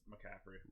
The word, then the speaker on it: McCaffrey: though like pronounced that I've always said that Capri no no it's McCaffrey alright let's start by